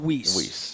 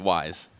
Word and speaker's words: Weis: to pronounce wise yes some people still call it whis right wise you better spend less